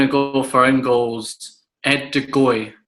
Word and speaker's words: Ed de Goey: I'm going to go for in goals, Ed de Goey. It's in the Rudd Gullet sort of vibe with that G.